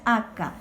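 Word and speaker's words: akã: de un niño que se lee acá con acento en la última acento nasal cabeza es acá y nos dice la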